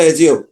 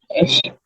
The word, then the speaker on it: assume: Double S থাকলে তা তালব্য বসার সত্ত্বেও মতো, ডবল এস থাকলে তালব্য বসার মতো উচ্চারণ হয়, সিঙ্গেল এস থাকলে বর্গীয় জয়ের মতো। তাহলে এটা কি উচ্চারণ কি হবে? অ্যাসিউম না অ্যাজিউম? assume, অ্যাসিউম, ঠিক আছে।